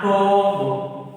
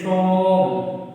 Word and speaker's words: tomb: It's not tomb. It is a tomb. Tomb. We pronounce from T to M. It's not pronounced B.